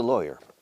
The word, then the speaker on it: lawyer: Ahora bien, abogado, que es lawyer, con Y-E-R, la pronunciación cambia un poco. Lawyer, hoy, loy. Lawyer, como Eloy.